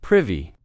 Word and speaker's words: privy: Note that pronunciation. Not privy, privy.